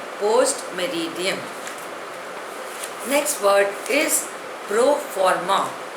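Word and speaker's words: post meridiem: Pronunciation is post-meridium.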